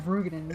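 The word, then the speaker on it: Roegadyn: Or should we say Rugadin? Rugadin, fuck man, I don't like that. I don't like that it's actually Rugadin.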